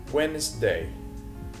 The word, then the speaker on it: Wednesday: Wednesday Wednesday. الدي سايلنت مش منطقها.